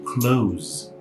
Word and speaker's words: close: Ou também SE, como na palavra close. Close. Esse S, inclusive, ele tem um som de Z.